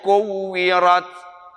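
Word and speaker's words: كُوِّرَتْ: Idza syamsu kuwirat. Kuwirat. Rotnya nggak panjang kan? Ini ada orang yang biasa bacanya salah.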